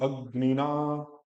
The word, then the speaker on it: अग्निना: अगर जहां पे संयुक्त व्यंजन होते हैं वह थोड़ा सा हल्का सा बल दिखना चाहिए। अग्निना, फिर ना का आ भी बड़ा करना है। देखो बोलिए ठीक, अग्निना।